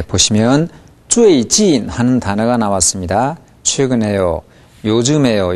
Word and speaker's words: 最近: 두 번째 진이 너무 낮은 데서 시작했어요. 最近 이 정도 했는데 사성을 같이 살려보세요. 最近. 자, 선생님 발음을 다시 들어보겠습니다. 最近,最近. 네, 들어보시면 最近 이게 아니라 最近 하고 사성이 똑같이 살아있다는 걸 알 수 있고 경우에 따라서는 진의 강세가 갑니다.